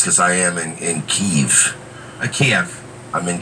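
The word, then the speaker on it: Kyiv: keeve tm wait no i think it's pronounced the keeve like by jason burchard who actually joins us this morning david in the chat saying keith is the ukrainian pronunciation okay we're not missing ukrainian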